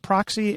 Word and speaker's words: Proxi: I saying it right is it proxy as in proximity you've got it and that's exactly right play on proximity yeah and I you